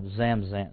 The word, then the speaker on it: Zamzam: of water today is called The Well of zamzam I I hope I'm pronouncing right some there's so many different dialects and so forth but z-a-m-z-a-m it's actually called the whale of zamzan zamzan today now years and centuries later Muhammad